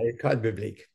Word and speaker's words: École Biblique: Pontifical Biblical Institute, and in archaeology from Jerusalem's École Biblique. Am I pronouncing that correctly, Dom? Yeah, École Biblique.